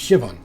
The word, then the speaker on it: Siobhan: seen uh ceo siobhan siobhan is pronounced shivan what a menacing name